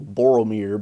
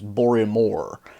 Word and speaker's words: Boromir: names get mixed up for example Boromir becomes bore and more uh it was just you know when you've heard when you've actually heard the correct pronunciation on your life just thinking of hearing a movie with bore and more throughout makes you appreciate aramon